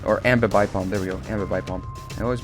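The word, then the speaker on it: Ambipom: The thing about a Bipalm, or Ambibipalm, there we go, Ambibipalm. I always mispronounce it.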